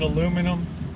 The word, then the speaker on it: aluminum: some people call it aluminium some call it aluminum right some call it a cigarette some call